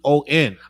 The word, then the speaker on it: Corleon: Like if I was to kind of phonetically spell it the way you say it, I wouldn't think there was an R in that one.